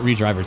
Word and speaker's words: ReDriver: Or I know technically the official pronunciation is supposed to be Red River 2, and the whole idea is, you know, to kind of get around the whole driver thing, but let's be honest,